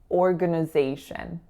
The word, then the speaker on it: organization: one too right because it looks like organ organization but the grand majority of folks aren't going to say that they're going to say orn so schwaha on that second and third syllable and then our winner and then a final schw organization the next word is